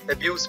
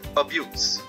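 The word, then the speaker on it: abuse: Drug एब्यूज, child एब्यूज, तब इसे आप एब्यूज पढ़ेंगे। लेकिन जब गालियां बकने या अपशब्द कहने के लिए इसी शब्द का यूज करते हैं तब इसका प्रोनंसिएशन या उच्चारण हो जाता है अब्यूज।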